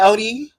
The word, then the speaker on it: Odi: So am I saying it wrong when I say ODI? No, so ODI is my name.